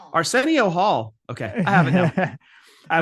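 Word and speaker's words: Arsenio: Arcenio Hall. Okay, I have it. I will never mispronounce Arcenio again.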